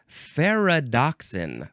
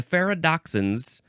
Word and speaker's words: ferredoxin: It is ferredoxin. Ferredoxin. Ferredoxin, here I am. I don't know, that's what my brain went to. It is spelled Ferredoxin. It's, like Frere Jacques. Ferredoxin, Frere.